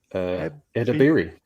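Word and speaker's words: Edebiri: How do you pronounce her surname? Edabiri.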